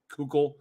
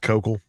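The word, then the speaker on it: Koukl: My boss over at STR Videos, Greg Kukul, answers. Listen now. Yeah, because they do like a podcast over there. It's ridiculous. So his name is Kokol. It's pronounced Kokol.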